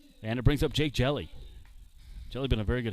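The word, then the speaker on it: Hjelle: there to jake jelly it's spelled h-j-e-l-l-e but pronounced jelly 61 hits for him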